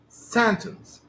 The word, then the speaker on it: sentence: If the stress in this word falls on the first syllable, so I cannot change it. If I change it, I may have mispronunciation or another meaning. Okay. For example, sentence, sentence. You cannot say that it's okay. It can be on the second syllable as well. No. Actually, you cannot change its place. It's not possible to change its place to sentence. This is mispronunciation.